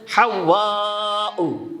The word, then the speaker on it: হাওয়া: আমরা হাওয়া হাওয়া আলাইহিস সালাম বলি। আসলে উচ্চারণ শব্দটা হচ্ছে হাওয়াউ।